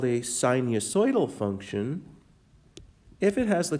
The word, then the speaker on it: sinusoidal: But if that pattern that repeats looks like a wave, like the sine curve or the cosine curve, then it's called sinusoidal. That's how you pronounce that word.